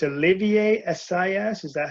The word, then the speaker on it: Olivier: is it it Sally I thought it was Oliver but it's Olivier sis is that how you pronounce yeah Olivier I think it's I think